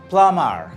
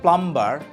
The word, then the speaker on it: plumber: it is silent B like com take Plum plamar not plumber not pluming is silent lamb not lamb is silent we find